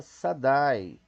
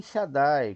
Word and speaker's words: Shaddai: Quem está acima de todos eles não pronuncia Sadai, como a gente leu, como pecado, né? Com pecado, mas sim Shaddai, com Shin, que é Metrate, tá vendo?